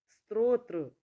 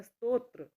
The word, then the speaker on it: स्तोत्र: वृद्ध संग्रहित नहीं संग्रहित स्त्रोत्र नहीं स्त्रोत्र नहीं होता है सही होता है स्तोत्र स्तोत्र और स्त्रोत स्रोत स्रोत